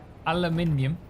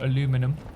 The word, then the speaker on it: aluminium: welcome playing with aminium not not aminium but aluminium or aluminum depending on which way you want to pronounce it yes that's the plan